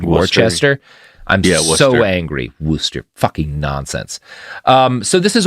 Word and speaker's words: Worcester: It is spelled Worcester. I'm so angry. Worcester.